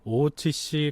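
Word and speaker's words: 大内氏: 하는 내자써서 대뇌라고 써서 일본 발음으로 오우찌씨라고 합니다.이 이 오찌 가문이 관장하고 있던 그 대표하는 것이 대회전.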